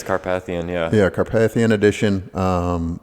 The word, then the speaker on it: Carpathian: Rover Defender uh car I don't know how you say it Carpathian or carpath I think it's Carpathian yeah yeah Carpathian Edition